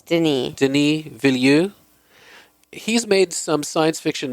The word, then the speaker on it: Denis Villeneuve: I was looking forward to this movie simply because, Daniel Villeneuve, is that how you pronounce his name? Denis. I think it's Denis. Denis Villeneuve.